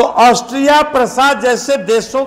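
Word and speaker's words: Prussia: क्या कर रहा था कि पर्सिया कहते हैं तो उसका मीनिंग हो जाएगा ईरान, प्रसा कहिए उसको, उसका करेक्ट प्रोनाउंसिएशन है प्रसा, जो आज जर्मनी के नाम से जाना जाता है।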